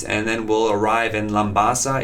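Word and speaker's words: Labasa: We'll depart the United States, and then we'll arrive in Lambasa. It's pronounced Lambasa, Fiji.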